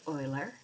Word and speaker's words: Euler: it's called euler's constant and yes this is pronounced euler it's also known as the constant of growth